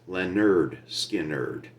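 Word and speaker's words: Lynyrd Skynyrd: I do from 1973 Leonard skard pronounced Lenard skard These Guys these boys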